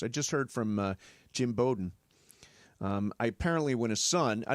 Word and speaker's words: Bowden: And I apparently when I was talking to Lincoln Riley this week, I mispronounced Chad's name. It is Bowden. Bowden.